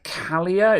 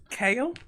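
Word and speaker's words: Kailh: me these low-profile uh calia is that how you pronounce it kayla kyle carl carlier those kale kale yes kale yes some kale brown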